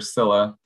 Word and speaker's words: Scylla: He is the technical, or Scylla, the pronunciation, believe is Scylla.